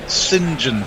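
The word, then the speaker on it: St John: ease of the tongue i think sinjin for saint john any intel really cricket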